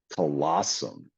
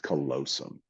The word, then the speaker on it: callosum: They even mispronounced it on there because they said colossum, and it's not. It's callosum.